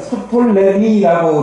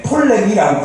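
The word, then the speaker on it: Ptolemy: 그 다음에 프톨레마이오스라고 써있는데, 원래는 프톨레미라고 이렇게 하기도 하고요. 앞에 T로 시작하거든요, 이름이. 근데 P는 보통 영어나 이런 데서 묵음이 있기 때문에 톨레미라고 부르기도 해요.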